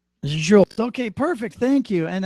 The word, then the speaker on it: Zsolt: Zsolt, the sound that everybody is going to be wondering about, this is the same sound as Jaja Gabor. So if you ever pronounce Jaja, that's the same Zsolt. Zsolt.